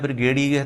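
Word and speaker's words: brigadier: इन्होंने वर्ड पूछा है ब्रिगेडियर, तो ये खींच के बोला जाता है ब्रिगेडियर।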